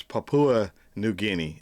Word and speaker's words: Papua New Guinea: I think I've learned how it's pronounced. It's Papua New Guinea.